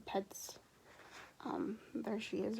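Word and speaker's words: Petz: I'm pretty sure her name is Pets. P-E-T-Z, Pets.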